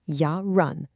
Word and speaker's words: yarın: And looking forward, we have yarın, pronounced yarın, the day after today.